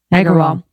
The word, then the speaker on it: Agrawal: Agrawal.